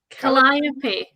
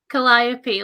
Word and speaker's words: Calliope: to say it um it's spelt c-a-l-l-i-o-p calinopi calliope like like one of the muses calliope that would make sense